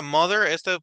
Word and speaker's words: mother: my mon muy bien la palabra mother es como si fuera una d de dedo mother my mother y la palabra sopa